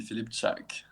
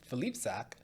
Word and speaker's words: Filipczak: that I'll be right back ready and it's Felipe sack right am I pronouncing that properly yeah so French way with exact polish way would be flip shark yeah well you're gonna you're gonna explain this